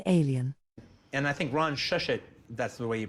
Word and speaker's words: Shusett: And I think Ron Shushet, that's the way you pronounce his name.